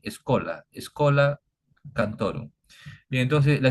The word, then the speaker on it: scholae: Se pronuncia en latín escola.